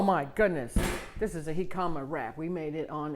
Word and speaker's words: jicama: it's spelled j-i-c-a-m-a and it's pronounced hikama not g comma it's a root and